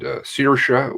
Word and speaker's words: Saoirse: And Saoirse, was that?